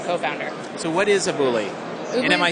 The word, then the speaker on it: Ubooly: Oobley? And am I saying it correctly? You are. It's Oobley, and Oobley.